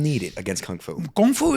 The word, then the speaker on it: kung fu: Kung fu is no joke, and you don't say it right. It's kung fu.